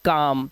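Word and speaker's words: calm: इसी तरह से सी ए एल एम शांत रहने के लिए हम बोलते हैं काम। तो एम से पहले आया एल साइलेंट होता है।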